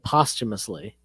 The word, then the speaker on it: posthumously: Is that how you pronounce that? Posthumously? Yeah, you know what I mean. It's posthumously.